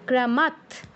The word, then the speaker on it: ক্রমাৎ: ক্রমাৎ খণ্ডত, এর উচ্চারণ নামেই আছে যে খণ্ডত, মানে ত এর অর্ধ উচ্চারণ, খণ্ড উচ্চারণ। এর যে শেষে অটা আছে সেটা উচ্চারিত হবে না, তয় হসন্তর মতো উচ্চারণ হবে আর কি।